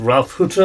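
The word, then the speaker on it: Ralph Hütter: last week we put in an interview with Ralph Hutter of Kraftwerk. Did I pronounce that?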